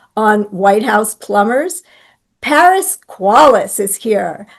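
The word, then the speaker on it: Qualles: Paris Qualace is here. I know how to say his last name because it sounds like quality and everything he does is.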